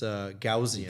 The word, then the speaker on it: Gaussian: Apparently it's Gaussian.